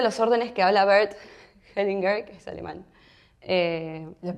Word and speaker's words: Hellinger: Uno de los órdenes que habla Bert Hellinger, que es alemán. Lo pronuncia así porque ya sabe alemán.